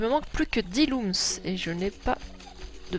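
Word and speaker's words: Lums: Why it is pronounced like looms? I don't know, it's... L... Ah, ils sont, je crois qu'ils sont là. It's L-U-M, but yeah, that's looms. That's strange.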